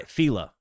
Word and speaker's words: Fela: Somebody type it phonetically again for me. Fail. Cooty. Um, before I Fela, fella, not fella.